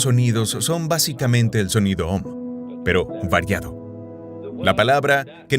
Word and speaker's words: Om: Los hindúes usan la palabra Om, que se pronunciaría A-U-M, porque la letra A va detrás de la garganta. La empujas a través de la vocal hasta Aum. La M es labial.